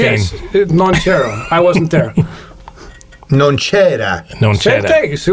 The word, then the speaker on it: non c'era: Non c'era.